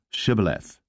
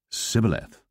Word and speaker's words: shibboleth: said they unto him say now shibboleth and he said sibileth for he could not frame to pronounce it right then they took him